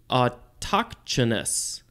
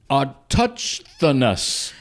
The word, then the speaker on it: autochthonous: I have never seen a word where it has a CH directly followed by a TH. So I think that would be pronounced autochthonous. Autochthonous. Something like that.